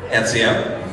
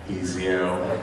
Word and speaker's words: Ezio: Ezio? No! How did you pronounce this character? Ezio. It sounds like some Dollar Store Easy Mac off-brand that's made with cheese.